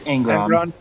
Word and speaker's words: Angron: I cannot pronounce his name. Korn gets Angron.